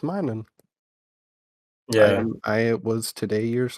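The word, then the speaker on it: Minun: correct you um and I never realized that is his name minan I could have sworn it was minum Plusle and minum but it is mining yeah I was today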